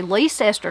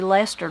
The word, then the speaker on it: Leicester: The last recorded sighting of Death's Messenger was on a Friday evening in, depends on where you're from, how you say it. You could say Leicester, North Carolina, or you could say Leicester, North Carolina.